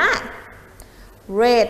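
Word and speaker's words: read: รูป แต่ ตรง นี้ คำ ว่า รีด เมื่อ เป็น วัด ที่ 2 อ่าน ว่า เรท นั่น เอง ค่ะ เก่ง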